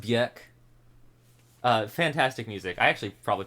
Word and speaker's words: Björk: It's pronounced Björk.